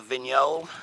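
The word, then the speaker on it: Vignoles: we uh have some uh venol uh the venol is a hybrid uh that's spelled VI n OES not a lot of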